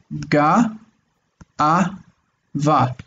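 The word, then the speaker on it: גאוה: we have this word ga'a, va. If we're doing the traditional break, this is the regular shva, and it's influencing this and turning it into a.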